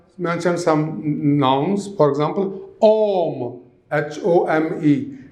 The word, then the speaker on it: homme: For example, homme, H-O-M-E. In French, H always remains silent.